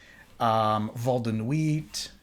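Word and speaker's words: Vol de Nuit: 19, Val de Nuit, don't want to pronounce that T, and also Geoffrey Vienne, and you see the rest of them there.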